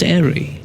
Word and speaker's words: Airey: The E is silent. Still pronounced Airey.